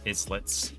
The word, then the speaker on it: Islets: That is how you pronounce that, is not Islets. It's based on the French term for island or isle. So islets. It's a small island. Teeny tiny island is an islet.